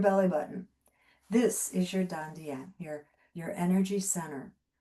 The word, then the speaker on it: dantian: This is your dantian, your energy center. Some people pronounce it tantien.